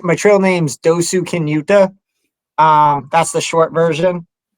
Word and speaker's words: Dosukinuta: uh so it's my name my trail name's dosu kinuta um that's the short version and I got